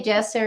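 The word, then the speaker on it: Djoser: it to Joe's jesser we say Jester in Egypt that's what the locals say king zozer or Jose or jesser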